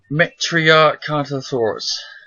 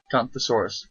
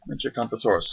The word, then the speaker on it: Metriacanthosaurus: Metriacanthosaurus. Not Canthosaurus. Metriacanthosaurus.